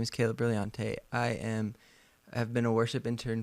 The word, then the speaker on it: Brilliante: Well, today in the studio, we have Kayla Brilliante. Did I say it right? Yes, you did. I always like to emphasize like the brilliant, like you're so brilliant.